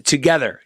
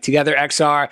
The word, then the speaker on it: TOGETHXR: officer doing some googling how the heck do you pronounce you know super what are we doing here uh it's together to get her been calling it like together xr i think i edited